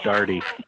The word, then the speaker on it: Daugherty: It's pronounced Daugherty.